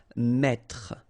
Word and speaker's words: mettre: That's the reason why you will pronounce mettre, mettre. Don't insist on the final E.